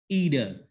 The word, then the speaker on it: either: So like both and, in English they pronounce, you know, either or, either. But American they pronounce what, either. Okay, so you can use any pronunciation like up to you.